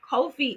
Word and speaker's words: Ko-fi: However, Ko-fi is actually how you pronounce that.